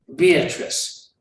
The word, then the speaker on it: Beatrice: but she knew this her name was indeed beatrice it had a certain flow three syllables and never just two thank you very much